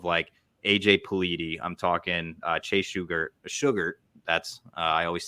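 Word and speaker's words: Shugart: I'm talking Chase Sugar. That's I always say his name wrong, but that's how you say it.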